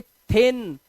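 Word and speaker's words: thin: को बोलते हैं थिन इसे दिन नहीं पढ़ते या इसे शिन चिन कुछ नहीं पढ़ेंगे इसे पढ़ेंगे थिन थिन माने पतला दुबला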